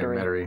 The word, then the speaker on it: Metarey: I pronounce his name Medary.